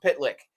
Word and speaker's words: Pytlik: have Pat pitlick yes his name is pitlick I've confirmed this with someone who knows him it is pronounced pitlick that would be rough